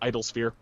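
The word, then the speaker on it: Idolasphere: They don't pronounce the O. It's just idolsphere.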